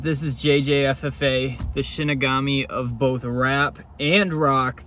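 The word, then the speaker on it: Shinigami: It's Shinagami, not Shimagami of because uh I I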